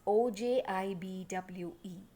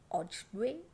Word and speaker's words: Ojibwe: I don't know how you pronounce this. It is Ojibwe. I'm saying it as Ojibwe.